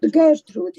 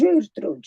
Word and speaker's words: Gertrude: It's not Gertrude, it's Gertrude. It's a hard G.